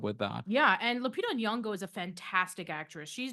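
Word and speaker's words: Nyong'o: and you got to forgive me on the pronunciation his name it's uh Lupita yongo that's correct yongo okay there we go so I did it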